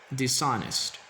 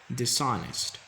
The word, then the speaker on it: dishonest: not this hottest now the H is silent and that's why we only say dishonest dishonest disagree disagree rebuild rebuild